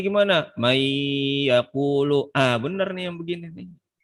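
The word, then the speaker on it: مَن يَقُولُ: Coba bacanya gimana? Man yaqulu. Aha. Yang ini kagak beres nih yang begini nih. Mai yaqulu. Kalau kita yang belajar tahu gitu ya. Bacanya man yaqulu gitu.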